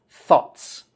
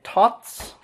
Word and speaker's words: thoughts: the word thoughts okay this should be pronounced with that th sound you got to get your tongue between your teeth thoughts okay Ott's you can't make it a T sound it has to be thoughts alright so practice the th